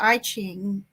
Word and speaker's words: I Ching: So I was doing in numerology, and then I gave myself an I Ching reading one day, or I Ching. It's pronounced both ways.